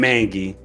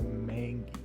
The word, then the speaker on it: manga: talk about anime and manga. Bro, what are you looking at? okay. I'm gonna correct you here, buddy. It's not mangi, it's a manga. Okay, buddy. Manga, manga. You gotta learn the pronunciation.